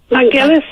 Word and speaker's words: Vangelis: Vangelis, yeah.